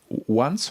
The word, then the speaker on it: Once: Le fondateur de Once, on doit le prononcer à l'américaine, c'est le nom de l'entreprise, croit que la durabilité peut aussi rimer avec les technologies de l'information. Oui, Once, c'est une start-up dont